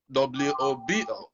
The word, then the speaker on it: Wobo: For folks that don't know who I am, my name is Wobo, you know, so phonetically it's spelled W-O-B-O. So it rhymes with hobo.